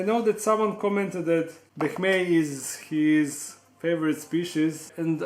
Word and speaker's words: boehmei: This is Brachypelma emilia and this is Brachypelma boehmei, or as majority of people in hobby pronounce it boehmei or something like that. But with Latin pronunciation that I use, they are called boehmei.